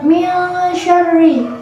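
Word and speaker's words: مِنْ شَرِّ: Pada lafaz min syarri terdapat hukum bacaan ikhfa disebabkan karena ada nun sukun yang bertemu dengan huruf shin. Cara membacanya, nun sukunnya dibunyikan dengan samar-samar ke huruf shin sambil berdengung.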